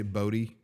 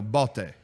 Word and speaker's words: Bodhi: name like you know I say Bodhi but you know ball day okay fine that's probably what it